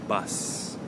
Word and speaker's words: bus: going to talk about the difference between bath and bus. Okay? Bath, perhaps ofuro, and bus, a method of transportation. So, what's the difference in the pronunciation between bath and bus? Okay, well, there are 2 main points we want to focus on. So number 1, of course, is the vowel sound.